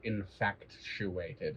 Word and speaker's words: infatuated: No, it's not infatuated. It's infatuated. You added like an extra syllable. Infatuated. Like fat, you know.